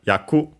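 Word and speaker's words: 役: Then we have yaku, roll, accented on the last syllable.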